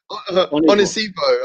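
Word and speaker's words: Onisiwo: I'll pronounce the W as a V because he's playing in Germany. Yeah, I heard the guy. But real talk is African, so it's Onisivo, isn't it?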